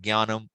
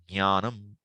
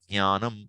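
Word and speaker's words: ज्ञानम्: From childhood, you learn Gyanam. So you'll keep saying Gyanam. But correct pronunciation is what? Jnanam. Jnanam. That's what it should be said.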